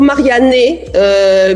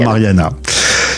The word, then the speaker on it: Marianne: je leur prononce toujours Marianne puisque le E se prononce E parce qu'autrement c'est la catastrophe mais en fait Mariana existe en italien donc je me transforme souvent en mar souvent Mariana tu es originaire de